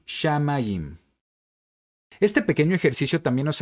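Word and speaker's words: שמים: diría Entonces sha ma y finalmente tenemos la letra yud junto con este punto que representa una vocal I finalmente la mem sofit mim así podemos leer shamaim shamaim este pequeño ejercicio también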